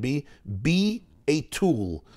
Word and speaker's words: Bittul: Bittul can be pronounced several ways. Someone pointed out to Rabbi Shei's tab that one pronunciation can be a tool, be tool, be a tool, be a tool in Hashem's hands, like Avram being a chariot. Bitul is be a tool.